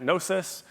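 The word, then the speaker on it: Gnosis: and a co-founder at nosis um we're really leaning into the whole silent G thing we also have a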